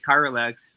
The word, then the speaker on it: Chiralex: Right, Chiralex, properly pronounced, exactly.